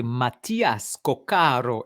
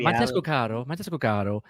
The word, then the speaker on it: Matías Cóccaro: Le passager Mathias Coccaro est demandé au comptoir. Le passager Mathias Coccaro. Señor, señora, bienvenidas a Aeroport Yul de Montréal. El señor Mathias Coccaro. Faut mettre l'accent tonique à la bonne place.